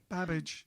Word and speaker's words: Babbage: In English you say Babbage because it looks like spelled like cabbage, isn't it?